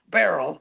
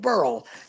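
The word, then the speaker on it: Beryl: about the fact that they're pronouncing the hurricane Barrel instead of burl can use you know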